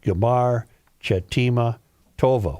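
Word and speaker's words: Gmar Chatimah Tovah: Another traditional greeting is Gamar Chatima Tova, pronounced Gamar Chatima Tova.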